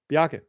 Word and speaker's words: Byakke: You're rolling that R way too much, but yeah. Okay, then how do you say it? Byakke. Byakke? You basically don't say the R.